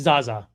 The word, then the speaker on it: Zahzah: Is it Zahzah? I asked you before, but say it once more. It's Zahzah.